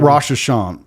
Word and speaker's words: Rosh Hashanah: Rosh Hashanah, yes.